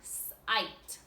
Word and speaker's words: sight: For this set of words, we're going to have a silent GH, like in the word sight. In the word sight, silent GH, we're going to have 3 over here that have silent letters.